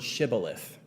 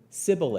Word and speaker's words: Shibboleth: the fugitive to say the word Shibboleth the ephra might would say Sibyl if for he could not pronounce it right they would then